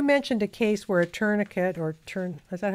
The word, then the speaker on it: tourniquet: You mentioned a case where a tourniquet is that how it's Yeah, pronounced?